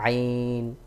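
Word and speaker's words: عين: তিন নুক্তা শিন এটা আইন যখন আইন কে উচ্চারণ করবেন গলার মধ্যখান থেকে একটু চাপ দিয়ে উচ্চারণ করবেন একটু বেশি করে চাপ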